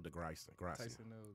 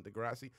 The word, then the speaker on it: deGrasse: deep um just because i like neil tyson degrassi i'm terrible names too t i'm still mispronouncing your name in my head as well neal neal neal carlin nelly nilly big names neil degrasse tyson is his name neal neal i said